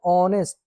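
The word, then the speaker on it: honest: तो ऑनेस्ट की स्पेलिंग जो स्टार्ट हो रही है यहां पे आप देखिए ऑनेस्ट जो स्टार्ट हो रही है एच से स्टार्ट हो रही है। बट हम इसको बोलते हैं ऑनेस्ट।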